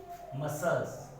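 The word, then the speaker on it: muscle: जैसे एग्जांपल देखिए, मसल्स, मसल, तो यहाँ C क्या है?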